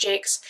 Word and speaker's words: Jacques: I know it's pronounced Jakes.